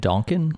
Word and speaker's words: Donkin: were also curious about, is it Duncan or Donkin? How do you say it's Schooner Pond in Donkin.